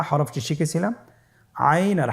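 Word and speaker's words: عين: আইন হরফটি উচ্চারণের সময় অবশ্যই 3 আলিফ টেনে পড়তে হবে এবং আইন হরফটি বারিক হরফ, পাতলা করে পড়তে হবে। আপনারা আমার সাথে বলুন আইন। আবার বলুন আইন। আইন হরফটি কণ্ঠনালীর মধ্যখান থেকে উচ্চারিত হয়।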